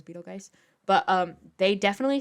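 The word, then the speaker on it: Betelgeuse: is the star but they pronounce it Beetlejuice and uh because no one really says Beetle guys but um they definitely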